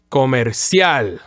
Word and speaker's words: comercial: So it's like a weak and fast I, and then emphasizing the A and aiming towards that A sound. So the whole word would actually sound like comercial. So it's really three syllables, right? The whole word would be actually three syllables.